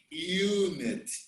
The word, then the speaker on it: unit: sound is really consonant for example one and unit they begin with the vowels but the initial sound like one unit is like w and y in one and you so i cannot say